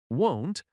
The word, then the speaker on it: won't: For example, won't and want are often confused in pronunciation. Won't has a long o sound. Want has a short a sound.